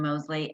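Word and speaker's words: Moseley: uh your lead characters um william is it mosley is that how you say it correct william mosley and joanna brady correct great okay they're adorable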